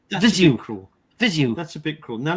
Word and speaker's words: Viseu: So you basically expedite your air from your lungs when you say the word Viseu. Viseu.